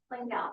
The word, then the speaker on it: Langell: Langell. Langell. Okay. The Y is silent, basically, right? Okay. Rhymes with ring bell.